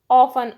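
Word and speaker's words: often: ऑफन, ऑफन में टी जो है साइलेंट है तो टी पर सर्कल करेंगे।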